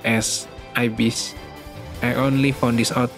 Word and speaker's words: ibis: By the way Did you know is actually pronounced as Ibis I Only Found This Out Now I thought it follow pronunciation like ibisu or Ibu and then i search for the